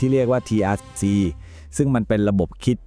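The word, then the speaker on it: TRIZ: ระบบ คิด ที่ แบบ ทรง พลัง มาก สำหรับ การ แก้ ปัญหา ที่ ดู แล้ว เป็น ไป ไม่ ได้ เลย ทริ เนี่ย อ่าน ว่า Trิ นะ ครับ มัน เป็น ตัว ย่อ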